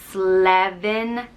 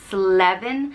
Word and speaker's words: Slevin: or mountain climber and it's an easy pronunciation just slavin sleven and it's spelled s-l-e-v-i-n